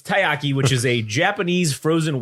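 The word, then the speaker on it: たい焼き: Yeah, because I keep saying takoyaki, which is the squid balls. Yeah. So it's taiyaki, which is a Japanese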